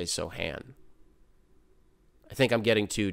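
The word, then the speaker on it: Sochan: really interested in these Sohan minutes soan minutes I've heard them pronounced both ways I tend to say soan I think I'm getting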